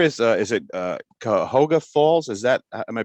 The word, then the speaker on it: Cuyahoga Falls: and and where is uh is it uh Cuyahoga Falls is that am I pronouncing right yep Cuyahoga Falls and where is that what's is that near